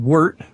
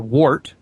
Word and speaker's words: wort: There's two different ways of pronouncing it. It's W-O-R-T, and there's some argument over how it's pronounced, but I've been told it depends on where you're from. Some people pronounce it wort and some people wort, but it doesn't matter.